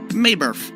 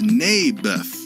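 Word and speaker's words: Naboth: that's what i said may birth i think you're saying it wrong his name was neybeth ah bless you never mind nabith lived on a piece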